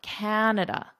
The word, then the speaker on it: Canada: Canada, Canada. So now you know the capital of Canada, the largest city, and you know how to correctly pronounce it.